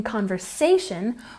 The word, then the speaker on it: conversation: beautiful once again beautiful in conversation we've got a stress here on the say sound conversation now you might notice